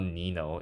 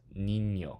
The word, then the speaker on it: niño: It's not Nino, it's niño.